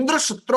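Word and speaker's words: इन्द्रशत्रु: इंद्र शात्रो, पहले क्या बोलना था? इंद्र शत्रु, और इन्होंने क्या बोल दिया? इंद्र शात्रो।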